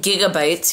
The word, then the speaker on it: gigabytes: the government so um instead of saying gigabytes here in Turkey they say gigabytes they pronounce the first G as a j so it's really funny